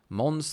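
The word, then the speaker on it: Måns: And my name is pronounced Mons, but don't worry about that.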